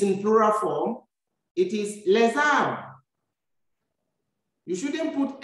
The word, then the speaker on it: les âmes: Since R begins with a vowel, you change the pronunciation of the S to be Z, Z, and you join the two words, le and R, to say les âmes.